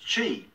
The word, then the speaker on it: Qi: therapeutic advice in tonight's story the word is Q I and despite how it's spelt it's pronounced Qi and it's a Chinese concept and it translates